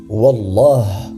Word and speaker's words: wallah: fait de jurer ainsi la façon correcte de le prononcer est de dire wallah et le mieux est